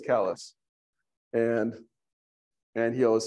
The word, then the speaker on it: Calais: No, it's spelled, no, it's actually a French name, but we pronounce it our own way. What is it? Kalos? Yeah. To be Calais, but in Maine is Kalos.